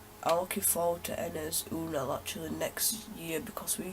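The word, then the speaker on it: Ünal: So yeah, I'm looking forward to Enes Unal actually next year because we signed him. I think it's actually pronounced Anal, but let's not get into that.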